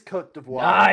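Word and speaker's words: Côte d'Ivoire: The hint is I had to look up the pronunciation for this country on the French pronunciation Oh, website. Louisa, could it be Cote d'Ivoire? it is Cote d'Ivoire.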